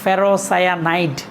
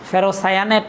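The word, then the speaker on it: ferrocyanide: একইভাবে আমাদের আরও কয়েকটা যৌগ আছে, যেমন K4FeCN6 এবং এই যৌগটার নর্মাল নাম হচ্ছে পটাশিয়াম ফেরোসায়ানাইড। পটাশিয়াম ফেরোসায়ানাইড, উচ্চারণগুলো একটু খেয়াল করবা, ফেরোসায়ানেট না, সায়ানাইড।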